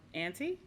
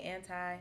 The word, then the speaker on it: Anti: rihanna mm-hmm yes um auntie auntie yeah auntie anti it might be anti okay yeah whatever works